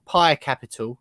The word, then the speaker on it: PAI Capital: We opened it, of course, with just clarifying whether you had any involvement in the PAI or PAI Capital, as it's actually pronounced, and that takeover earlier on.